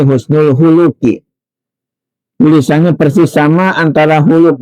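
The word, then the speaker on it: حُسْنُ الْخُلُقِ: Bacanya para santri walaupun ini gundul jangan keliru, jangan husnul khuluqi, ya, tapi husnul khuluqi.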